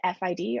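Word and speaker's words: FID: input delay which is abbreviated f id or sometimes people pronounce it fit and this measures how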